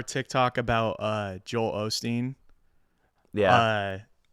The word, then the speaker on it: Osteen: Googling on this Joel Osteen Olsteen I'll call him Olsteen just to piss everyone off yeah people kept commenting that on the video I didn't notice you were saying that I know I was saying it wrong the whole time but uh uh he